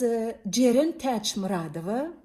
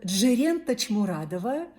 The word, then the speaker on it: Джерен Тачмурадова: And I was born as Джерен Тачмурадова, that's Turkmen pronunciation, or Джерен Тачмурадова, that's Russian pronunciation, in Turkmenistan.